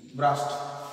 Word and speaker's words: brushed: তারপর হচ্ছে ব্রাশ, BRUSH, ব্রাশ মানে ব্রাশ করা, মাজা, ইডি যোগ হবে, BRUSHED, ব্রাস্ট। উচ্চারণটা টয়ের মতো হবে, ব্রাস্ট, কিন্তু ইডি যোগ হবে।